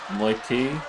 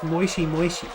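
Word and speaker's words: もしもし: How do I pronounce that? Moitié? Moitié? No, it's Moishi Moishi.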